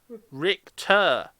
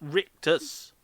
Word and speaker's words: Richter: gets your name wrong Richter not rictus well he told me well he called me Deadman he says rictus as if to rhyme with anus it's actually me thinking